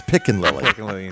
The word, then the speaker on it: Pickin-Lily: It's Pickin-Lily. Because we're picking Lily all over Pleasant Point.